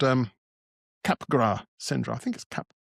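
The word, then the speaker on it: Capgras: uh it's called um capra syndrome I think Cap. I don't think the S is pronounced where it's a delusion some people suffer from.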